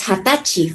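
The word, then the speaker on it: 二十歳: remember the age okay 20 is an exemption right that is hatachi for your age or saying your age 20 years old okay in the days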